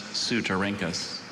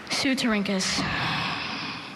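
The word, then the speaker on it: Ceutorhynchus: Sylvia examined the beautifully translucent amber carropuses of several weevils of the genus Sutarinkus.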